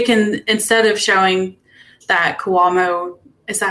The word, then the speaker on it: Cuomo: the arrests, they can, instead of showing that Cuomo, is that how you say his name? I don't know. Failed. They can just say nobody abided the Andrew orders. Cuomo, right?